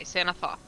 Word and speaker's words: Sanathoth: Sanathoth or Sanatoth? Sanatoth. Thoth. I said it wrong. The Xanath. T-H-O-T-H. Thoth. T-H-O-T-H. Okay, Sanathoth. And Tess, you admitted to